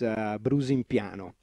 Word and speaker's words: Brusimpiano: Yeah, the village name is Brusimpiano, like B-R-U, B-R-U-S-I-M-P-I-N-O. Okay, I had to concentrate myself to get it correctly, spell it correctly.